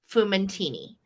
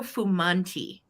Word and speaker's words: Fumanti: this is a piece um by Aldo fumuntini um no I'm sorry I said his last name wrong it's Aldo fumanti f-u-m-a-n-t-i and Aldo is a